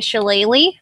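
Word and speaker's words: shillelagh: keep my Sapphire Eyes um I car a shalele yeah excellent pronunciation yeah did I get it right yeah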